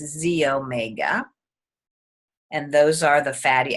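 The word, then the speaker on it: xEO Mega: But the Z-Omega actually is spelled X-E-O, X-E-Omega, but it's pronounced Z-Omega.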